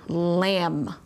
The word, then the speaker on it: lamb: And the MB says M. Again, the B is our silent letter. B doesn't say a sound, like in my word lamb.